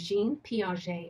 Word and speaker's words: Jean Piaget: one number eight is jean piaget is how you say that because it's french so jean piaget we